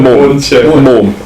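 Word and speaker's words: Mumm: Yeah, it's I don't Mum M-U-M-M. Oh, Mum. I don't think there's a right or wrong way to say it.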